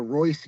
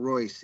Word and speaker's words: Royce: we're going to the Royce Gracie seminar." Roy. I'm like, "Sweetheart, it is not Royce. It is Royce." The R is You don't You don't say the R.